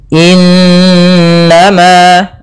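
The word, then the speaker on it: إنما: Semoga innama tuaduna lawaqi' pada bacaan innama di sini ada nun berharakat tasydid diwarnai dengan warna hijau. Ini bacaan ghunah. Cara membacanya suara n-nya ditahan dua harakat. Innama ah baru dilepas.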